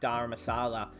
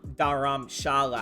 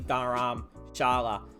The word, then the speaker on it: Dharamshala: the deli capitals at dharamasala um dharamshala actually is how you say daram Sharla right because I was calling it Dara Masala it's actually dharamshala with the sh so I was saying